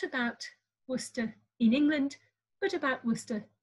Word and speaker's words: Worcester: do is establish that the city name was pronounced something like worcester or worcester it was two syllables and this last vowel was pronounced in some sort of indistinct way and the r at the end was probably left off in pronunciation by at least some english speakers so coming back to